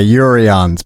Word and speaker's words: Jurriaans: your name right but j is actually pronounced like a y yurions but i always like